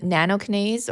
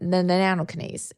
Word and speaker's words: nattokinase: Now, you mentioned nattokinase or is that how you say it?